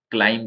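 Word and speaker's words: climb: है तो यह है क्लाइम बोलते हैं इसको बी साइलेंट है इसमें क्लोज इसके अंदर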